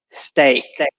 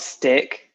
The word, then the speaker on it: steak: carrots milk pasta steak careful with the pronunciation steak a not stick steak steak if you go to a restaurant and ask for a stick you're going to be disappointed Oh disappoint steak sausages